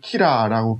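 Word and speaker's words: 吉良: 그 한문으로 쓰면은 길양인데 이걸 일본에서는 키라라고 발음을 해요.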